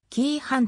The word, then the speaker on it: 黄飯: 料理があるがこちらはキー版と読む黄色く焚き上げ試しの